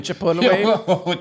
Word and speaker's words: Chipotle: know it's like the Chipotle you remember those chipot remember we're playing around with you do you